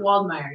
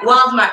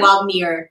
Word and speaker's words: Waldmeir: By the way, did I pronounce your name right? Charlotte Waldmier. Yeah. Waldmeir. Oh, I said Yeah. Waldmeir. It's fine. Oh, yeah. Same thing.